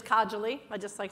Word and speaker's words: Kajoli: My friend actually is Kajoli. I mispronounced it for years, so I just figured I'd correct it.